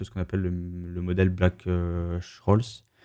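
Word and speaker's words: Black–Scholes: Donc c'est un peu ce qu'on appelle le modèle black shrolls, ça dépend comment vous le prononcez, scols.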